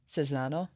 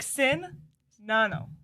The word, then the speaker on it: Czinano: Czinano? No. Oh, dang. See? It's not just Okay, me. so the C is pronounced like an S, and the Z is silent. So it's like Czinano.